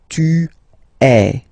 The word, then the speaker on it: es: And for tu, then you've got this combination of letters, okay, but then basically the sound you will pronounce or you will produce is est, okay. Tu es, all right.